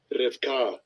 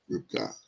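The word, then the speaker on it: רבקה: How they pronounce it? Strong's H 7259. Rivka. Rivka.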